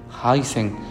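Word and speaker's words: Hansen: se encuentra esta enfermedad con el nombre de Jason bueno se escribe hacen pero la Organización Mundial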